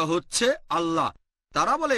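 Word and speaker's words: الله: একই ভাবে আমরা জানি সঠিক উচ্চারণটা হচ্ছে আল্লাহ। তারা বলে এলা আমরা বলি আল্লাহ সমস্যা নেই সঠিক উচ্চারণটা হচ্ছে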